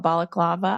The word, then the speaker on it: balaclava: I don't never pronounce that right. That's probably not it, but maybe it is. No, it is. Okay, cool. It just doesn't sound like I'm saying it right. Like I gotta like it sounds like a Greek dessert.